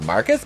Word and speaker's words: Marquis: has a grudge against marquise pronounced marcus because he's stupid and sophie asks is this like because of marquis pronounced marcus because he's [ __